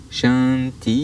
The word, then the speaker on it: Shanti: Le troisième Shanti, alors la dernière syllabe, le I est long, Shanti signifie que les énergies de paix œuvrent en moi pour le bien des autres.